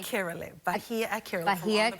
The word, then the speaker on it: Akerele: And how do I say your last name correctly? Akerele.